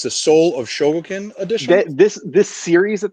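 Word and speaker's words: Chogokin: soul of chogo token it's the soul of shoguken edition this this series that they have they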